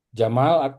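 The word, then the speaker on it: جمال: Jamal. Eh jamalun artinya unta. Tapi kalau mimnya panjang jamal itu artinya indah. Nah, makanya jangan salah ngomong ya. Kalau jamalun itu artinya unta. Tapi kalau indah jamal ya.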